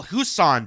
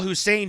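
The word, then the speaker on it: Husain: So, here is Mark Carney himself on the show produced by Bloomberg called the Michelle Husan Show, the Michelle Hussein show. Sorry, I mis I mispronounced it uh intentionally.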